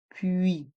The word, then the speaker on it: puis: Et dans le mot puis, nous avons le son UI avec les voyelles U et I. Et le S est muet. Puis, devant, dans le mot